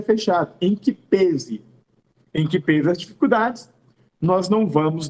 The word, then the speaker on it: em que pese: Cuidado com essa expressão adverbial, perdão, com essa expressão prepositiva em que pese. E a pronúncia é essa mesma, tá, gente? Há alguns que falam em que pese, só que o timbre é fechado.